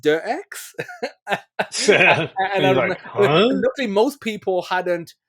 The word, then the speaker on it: Deus Ex: you know DSX came up and he said DSX and I remember saying to him you know it's pronounced dirx most people hadn't like it's one of those